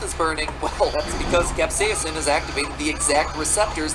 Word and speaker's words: capsaicin: look so and delicious i'm pronouncing it capsaicin because that's right we don't know so much even though i have never once heard anyone in my life pronounce it that way so if you don't like it take it up with both myriam and or webster when you eat a